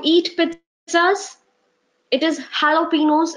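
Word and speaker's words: jalapeños: with us it is jalapenos it is not jello Pinos jay is not there okay work on your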